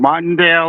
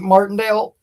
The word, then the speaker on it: Martindale: I I believe we see um the guy from the Giants, I get his name wrong, Martale or I I have his name. What's that? went Martindale.